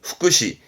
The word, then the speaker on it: 福祉: 발음은 후쿠시, 후쿠시.